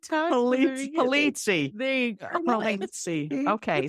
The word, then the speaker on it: Polizzi: I'm Italian too, and some Italian names have different pronunciations. So I added a little bit of a different spin to it.